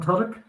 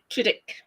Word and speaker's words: Tudyk: I call it Tudyk. So use the Y is like an I essentially. So Tudyk.